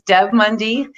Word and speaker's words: Deb Mundy: will be joining us often her name is Deb Mundy did I pronounce it right first of all excellent ok